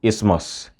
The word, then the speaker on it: isthmus: Sai na ƙarshe aka ce th is silent in words like asthma and isthmus.